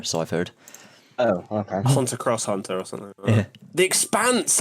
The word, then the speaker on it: Hunter x Hunter: hunter x hunter is an anime it's apparently pronounced hunter hunter so i've heard oh okay hunter cross hunter or something yeah the expanse i've heard excellent